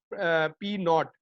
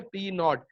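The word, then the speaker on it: P₀: इसको क्या आप कैसे प्रोनाउंस करते हैं, पी नॉट। इसकी प्रोनाउंसिएशन कैसे की जाती है, पी नॉट।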